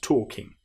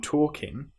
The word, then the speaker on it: talking: So the next exercise, I like walking and talking. Now you'll notice that in both of these words, walking and talking, we have the L, which isn't produced.